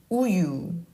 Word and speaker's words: 우유: And then we have 우유. 우유. 우유. 우유. The mouth shape stays the same. Do you notice? It's just the U, the second syllable has the Y sound.